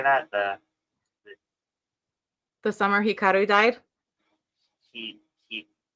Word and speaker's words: Hikaru: he he Hikara Hikara. Robert does that. He just makes up words in the middle of stuff. You just have to. Oh, is that not how you say it? No, it's Oh, Hikaru. It's the summer Hikaru died.